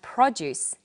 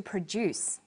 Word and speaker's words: produce: and there are lots of others we have produce that you eat and to produce to make we have subject and object but subject and object Let's test you try reading these sentences he objected to the subject of the lesson the farm produced fresh produce so you can see how the stress in words can change meaning you'll have to practice